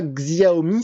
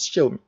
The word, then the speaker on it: Xiaomi: ceux qui ne savent pas, ça ne se prononce pas Xiaomi, ça se prononce Xiaomi.